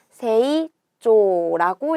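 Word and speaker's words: 成長: 이룰 성자에 길장자를 써서 세이조라고 읽어줍니다.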